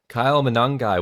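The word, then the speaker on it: Monangai: down below, but Kyle uh, how do you pronounce his last name? Kyle Manangi, one of our sleepers, early early day sleepers, right?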